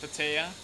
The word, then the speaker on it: Pattaya: place was patio or some you know people pronounced Pattaya Pattaya yeah we when we go on vacation